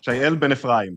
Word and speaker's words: Shael Ben-Ephraim: Shael Ben-Ephraim, if you want to say it in Hebrew.